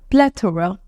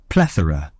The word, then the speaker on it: plethora: you to pronounce and it's this so the pronunciation is not plor it's PL PL PL plethora okay we'll be listening to it once again plethora plethora for instance the internet offers a plethora of